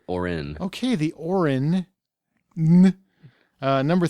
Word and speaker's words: Auryn: It's spelled Auryn, so there you go. It's like aura, but Orin.